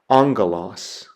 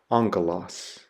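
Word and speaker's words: ἄγγελος: The Greek word that I have there is the word for angel or messenger, and so it's pronounced angelos, angelos.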